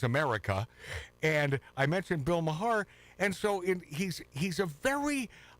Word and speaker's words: Maher: So it's Mahar." Is that how you pronounce it?